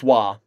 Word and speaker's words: Roy: Yeah, I know it's Wah. I don't pronounce it Roy. It's Wah. Wah. Nicholas Wah.